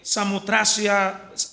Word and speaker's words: Samotracia: Eh, Samutracia, así es que se pronuncia, ¿no?